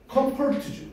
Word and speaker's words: comfort: 그 다음 comfort죠. 거기 들어가. 요거 있지? 이것도 어발음입니다. come, come. 됐어? come, fall, fall, 어, comfort. 액센트가 앞에 있네. comfort, comfort 라고 발음하시고.